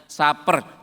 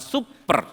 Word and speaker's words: supper: S U P p E R. Bacanya saper. Jangan super.